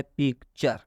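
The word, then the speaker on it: picture: यहाँ पर टी के बाद यू आर ई है, इसलिए टी का उच्चारण च हुआ है। मतलब कि टी यू आर ई को चर पढ़ेंगे। अब इसको एक ही बार स्पेलिंग मिलाकर एक ही बार क्या पढ़ेंगे? एक ही बार इसको चर पढ़ेंगे।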